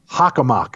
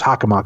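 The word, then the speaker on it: Hockomock: swamp Tim H swamp that's exactly how it's pronounced hakak swamp I don't know why my mouth refused to work with me there but it's hakak swamp lasting for days on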